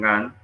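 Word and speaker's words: Gantt: planeación denominado la programación GAN. La programación GAN, vayan tomando nota, la programación GAN se escribe G-A-N-T.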